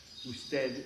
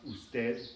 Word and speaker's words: usted: Usted is the formal you, it's the word for you. It's pronounced usted. In many countries you don't even hear the D, it's just usted.